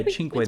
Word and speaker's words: Cinque: it's chin and not sway yeah or not Sway and I think it's hard I mean we